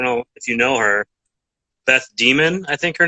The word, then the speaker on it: Beth Demmon: I don't know if you know her, Beth Demon, I think her name is. Yes, that is the correct pronunciation. Beth Demon.